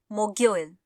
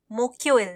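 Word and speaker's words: 목요일: Korean में होता है मोग्योइल मोग्योइल आपको अपने उच्चारण पर ध्यान देना होगा इसको हम लोग मोग यो इल बोलते हैं मोक्योइल नहीं ठीक है अब एक बार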